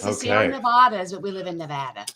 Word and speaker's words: Nevada: organization in nevada correctly oh no it's nevada it's like in new jersey nevada so it's the sierra nevadas but we live in